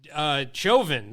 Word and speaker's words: Chauvin: Chauvin. Is that how you say it? Chauvin. Like chauvinistic.